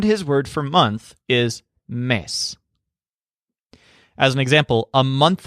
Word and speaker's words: mes: tracking time and his word for month is miss as an example a month ago would be